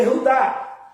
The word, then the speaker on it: Judá: Na sua Bíblia é Judá, não é isso? Judá, mas no original é Iudá.